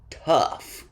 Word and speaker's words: tough: pronounced like off trough rule number five like the previous rule these words end with a f sound but these o-u-g-h words sound like uh at the end a short u off rough which is the opposite of smooth tough which means hard to break strong or powerful and Slough which means to fall off like a snake's dead skin again not a common